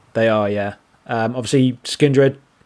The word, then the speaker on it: Skindred: the main stage and skin drid or skin dread as you like to say um headlining the Sunday